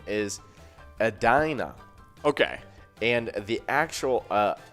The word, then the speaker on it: Edina: the mispronunciation is a dinner but the actual pronunciation is edina so okay so that makes sense edina but uh but yeah i thought it was like adina or something like that but it kind of